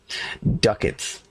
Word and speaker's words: ducats: The money in this game comes in coins called, rhymes with buckets, ducats. D-U-C-A-T-S. And it says it rhymes with buckets, so therefore it must be ducats.